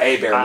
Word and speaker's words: Hebert: that people can't pronounce so it's h-e-b-e-r-t which is right hey bear is i knew that right